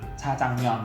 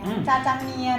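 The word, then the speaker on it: 짜장면: ภาษา เกาหลี นะ ครับ ไม่ ใช่ เมียน หลาย คน ชอบ พูด เป็น เมียน พี่ เคย ได้ ยิน จาจังยอ จาจังอ จาจัง จาจังเมียน อะไร คือ เมี่ยน เนี่ย มัน เป็น ภาษา จีน ตัว ภาษา เกาหลี เนี่ย ไม่ มี สระ เอีย แต่ ภาษา เกาหลี เนี่ย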